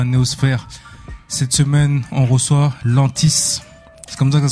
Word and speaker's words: Lentiss: Cette semaine, on reçoit Lantis. C'est comme ça que ça se prononce. Ouais, tu peux le dire Lantis. Lantis.